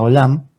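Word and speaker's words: עולם: Solamente decir que la palabra perpetuo, buscando la referencia, es el Strong Hebreo 5769, se pronuncia Olam, y bueno, quiere decir eterno o para siempre.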